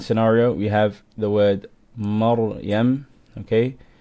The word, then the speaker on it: Maryam: Okay, we have ra sakin, before it is a fatha, we can pronounce the ra strong. Maryam, we're not going to say Maryam. Maryam, la, Maryam. Make sure your ra is strong here.